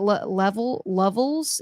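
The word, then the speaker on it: Hogan Lovells: Now, Hogan Levels, or is it Levels? Yeah, Levels. Okay. Make sure I'm pronouncing that right.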